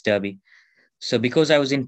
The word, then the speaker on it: Derby: um in the city called derby it is pronounced as derby but it's derby so because i was in touch with somebody